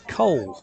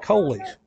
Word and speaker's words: Cole: Just figured out that I've been mispronouncing his name the whole ball game. It's Cole, not Coley.